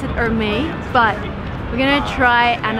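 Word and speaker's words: Hermès: It's Hermes. Hermes. Yes. So you actually pronounce the last. It's a French brand, so you don't pronounce the H.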